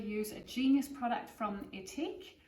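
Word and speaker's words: Ethique: Well, as a quick demo, I'm going to use a genius product from Etique, which is spelled E-T-H-I-Q-U-E. It's a New Zealand company. Yes, I am pronouncing it right, I checked.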